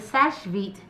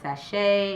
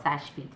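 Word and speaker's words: Seche Vite: So the Sash Vite top coat is, some people in the industry call it sachet and all that, but it's actually called Sash Vite.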